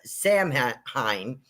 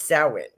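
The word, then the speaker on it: Samhain: we would say uh samine is actually sin it's pronounced sin s o w- i n uh so that's how it's pronounced in the Celtic world and I have a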